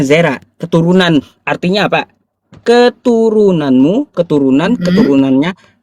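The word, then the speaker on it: זרע: Bacanya Zera.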